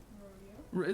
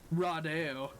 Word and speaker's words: Rodeo: How do you pronounce his name, Lori? Rodeo. Is it Rodeo? Let's see. Like Rodeo.